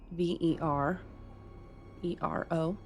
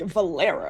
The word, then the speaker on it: Verero: V E R E R O. Wait, can you spell that again?